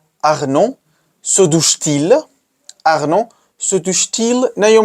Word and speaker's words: se douche-t-il: But you can't say se douche-il, se douche-il. It doesn't sound fine. So what we do is put a T in between as a buffer to make pronunciation smoother and easier.